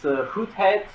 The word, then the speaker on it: Goedheid: Yeah, so the original Dutch pronunciation of my last name is Goedheid, and it's actually the literal translation of the word goodness in Dutch.